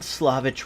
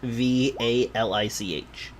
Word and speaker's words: Svalich: We'll be on the old Slavich road, heading toward Vallaki. Old what road? Slavich. Into Vallaki. V. Vallaki? Yes. Slavich, by the way, is Svalich.